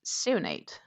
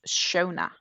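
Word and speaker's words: Seonaid: Her name is spelled um s e o n a i d, which for me would be pronounced sinate, but that's not how she's pronounced. She's pronounced shona.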